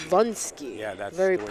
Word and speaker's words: Derewonski: It's Derewonski. Vunsky. Yeah, that's very the way powerful. he pronounces it.